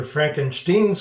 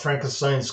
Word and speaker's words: Frankenstein: up like Dracula instead Frankenstein's Castle or rather Frankenstein's Castle the German pronunciation Jump Ahead a few years we were stationed in Germany when we heard about Frankenstein's castle and it was